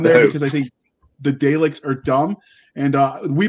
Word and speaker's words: Daleks: yeah yeah yeah yeah okay daleks that's how you pronounce it dumb dumb i'm not